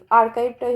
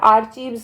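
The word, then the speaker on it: archive: museum বলা হয় আর্কাইভ আর্কাইভটাই হবে এখানে কারেক্ট আনসার এটা আর্চিভস না আর্কাইভ প্রোনাউন্সিয়েশন লাইব্রেরি মানে জানি বুক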